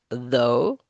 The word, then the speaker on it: though: So, as it says here in this title, these other words, in these other words, the GH is silent. High, sigh, though, through, although, though.